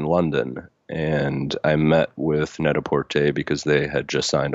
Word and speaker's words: Net-a-Porter: the what about you also mention something about net-a-porter oh yeah it's um it's actually that's how I pronounced it first to but it's pronounced very sophisticated ly net a port a I don't I don't I don't mean to